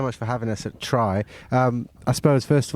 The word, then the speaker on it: Traigh: Um I suppose first of all tell us a little bit about Try and your connection to it. Is it Tel Clyde said it was Trey? It's spelled T. It's pronounced try and it means it means beach in gic.